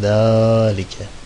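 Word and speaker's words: ذلك: Zalike en başındaki da'dan sonra aslında met harfi görünemiyor ama uzatıyorsun. Hayırdır? Gizli elif harfi. Zalike.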